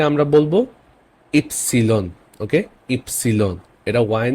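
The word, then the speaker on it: Ypsilon: নেই দেন আছে ওয়াই ওয়াই কে আমরা বলব ইপসিলন ওকে ইপসিলন এটা ওয়াই না এটা ইপসিলন এখানে একটা এক্সাম্পল আছে এই ইংলিশের মত উচ্চারণ করবেন ইয়োগা কিন্তু এটাকে বলবেন ইপসিলন এটা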